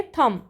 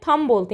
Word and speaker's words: thumb: अब ऐसे ही next word है थम, THUMB, तो इसमें बी जो है क्या होता है, साइलेंट होता है। हम क्या बोलते हैं, थम बोलते हैं, ना कि थम्ब।